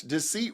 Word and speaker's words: deceit: Oh my gosh, deceit rhymes with receipt.